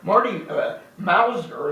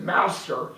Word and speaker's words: Mauser: And particularly when somebody's kind of a toxic character, which Marty Mauser, and of course a lot of people always would mispronounce it Mouser, to put him down.